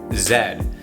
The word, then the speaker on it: Z: that here in canada what americans call the letter z we pronounce that letter zed that's true fact i